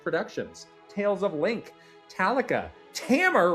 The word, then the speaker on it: Tamer: Tales of Link, Talica, Tamer rhymes with hammer.